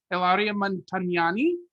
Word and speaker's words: Ilaria Montagnani: I'm here for the Music City Drive-In, and I have the opportunity to interview Ilaria Montagnani.